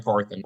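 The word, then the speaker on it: Carthon: you say his last name c r ran Caron ran Caron yeah that's that's how you say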